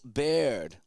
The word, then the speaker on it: Baird: And that's going to be taken by Bill Baird. That's how you say his name. Bill Baird.